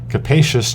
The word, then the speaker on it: capacious: us know and too capacious just rhymes with the word spacious so if you think